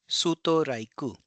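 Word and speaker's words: ストライク: So strike becomes suto raiku.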